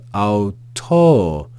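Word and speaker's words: αὐτῷ: under the Omega and we just ignore it in pronunciation we also see that there's a circumflex accent above the Omega so we have Auto this letter here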